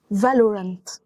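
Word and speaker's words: Valorant: دي تريكي شويه علشان خاطر ناس كتيره بتقولها فالورنت هو في واو بس الواو هنا خفيفه فبتبقى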